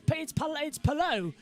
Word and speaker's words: Palou: Thanks to the Lao say it's Palou. How you pronounce it, not Palau.